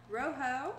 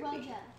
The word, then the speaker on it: Rojo: So you think we're going to get Rusty, Scarlet, Roho, or Ruby? Rojo. It's Roho. You don't think I don't think you pronounce the J.